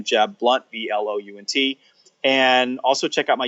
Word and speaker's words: Blount: jeb blunt comm now my last name is spelled BL o UNT pronounced Blount in some places in the country one-nothing it says I pronounce it blunt but Jeb blunt comm